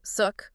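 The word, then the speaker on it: xook: The idea was that shark came from the Yucat Maya word zuk, pronounced sort of like suk, which means shark.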